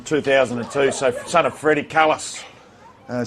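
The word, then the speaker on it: Kallis: So son of Freddy Kalis uh same spelling and and pronunciation as Jack Kalis from South Africa and and he and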